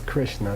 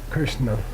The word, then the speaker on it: Krishna: There's no such thing as amrita, and there's no such thing as Krishna. It's not spelled that way. It would be a ka with an R, and it's not. It's a vocalic R, Kirsch, I-R, Krishna. Okay, everyone mispronounces it. Even the people who follow Krishna call him Krishna. Anyway, because of the British,